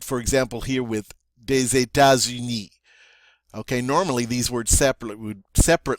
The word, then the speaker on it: États-Unis: So, again, we're going to take this normally silent S. Since it's followed by a vowel, we're going to pronounce it now as a Z. So it's going to be États-Unis. So we have two in a row here. Des États-Unis. Des États-Unis. And you can see that sounds better than des États-Unis.